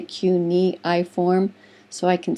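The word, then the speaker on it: cuneiform: just write that word down uniform it's actually cuniform that's how you pronounce it I always say CII form so I can spell it correctly but it's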